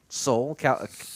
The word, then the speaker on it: Seoul: wait to go to Seoul is that how you say it Seoul no soul yeah so hey this